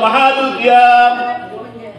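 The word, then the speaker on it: محل القيام: Bacanya apa? Malul qiyam, mahalul qiyam.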